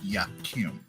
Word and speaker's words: Yakim: Kim is my first name okay how you spell it y k i m y k i m a k i m yakim yakim and what does that mean pillar of God